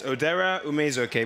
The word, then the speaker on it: Odera Ume-Ezeoke: So once again, what's the right pronunciation? It's Odera Ume-Ezeoke, but that was very close.